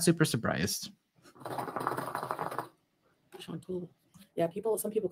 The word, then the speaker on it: Chantal: Yeah, some people call me Chantal.